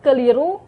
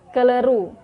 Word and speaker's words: keliru: Yang kedua, fonem I diucapkan E. Contoh, keliru menjadi keleru.